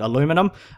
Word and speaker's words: aluminum: aluminium no it's aluminum because there's no second I someone pointed that out the other day it's also another thing it all starts to do with the spelling i'm pretty sure in Australia we spell it aluminium we're in other countries a spell at aluminum um before who knows